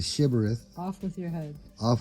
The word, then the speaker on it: Shibboleth: among them and if they say simarets instead of shivereth off with your head